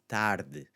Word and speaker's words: tarde: So the first one again, either late, afternoon, tarde. And see what it does to the D there as well? Tarde. almost sounds like a TH, that D, right?